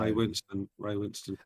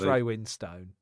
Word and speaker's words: Winstone: Ray Winston. He calls himself Winstone, doesn't he? He's one of those. He'll say, yeah, it's Ray Winstone. Ray Winston. He's pronouncing every letter in that name.